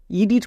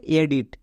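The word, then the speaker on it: edit: ডি আই টি এডিট একে অনেকে ভুল করে ইডিট করে দেই মানে ই এর লং সাউন্ড করে দেই হসই ডো এ ওসি টো কিন্তু ওটা সম্পূর্ণরূপে ভুল এর উচ্চারণ হবে এডিট এখানে ই রুলস কাজ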